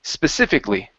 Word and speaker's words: specifically: Okay, so the other thing here is that the A at the end of the word, we do not pronounce that. So instead of saying specifically, it's specifically. Specifically.